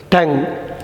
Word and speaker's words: tongue: நம்ம பேசுகிறதுக்கு பயன்படுத்துகிறது டங், நாக்கு. அந்த டங் வந்து இந்த லாஸ்ட்டு யூ அண்ட் இ ரெண்டுமே அவங்க உச்சரிக்கலை. குறிப்பாக அந்த யூ வந்து அவங்க உச்சரிக்கலை. TONG எப்படியோ அப்படி தான் டங்கிறது உச்சரிக்கிறாங்க, நாக்கு அப்படிங்கிறது.